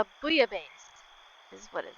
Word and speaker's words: bouillabaisse: Okay, how do I pronounce it? It says... bouillabaisse is what it says.